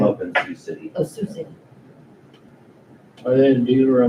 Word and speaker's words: Sioux City: Oh, Sioux City.